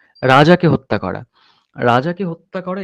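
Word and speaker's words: reg: যেমন লাতিনে raise, আর-ই-জি raise মানে হচ্ছে এটা উচ্চারণ হয় রেজ।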